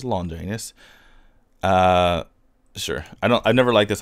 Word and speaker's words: Longinus: Okay, Spirit Longinus, excuse me, that's, if you didn't know, the correct pronunciation is Longinus.